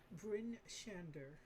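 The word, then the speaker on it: Bryn Shander: Brinshander.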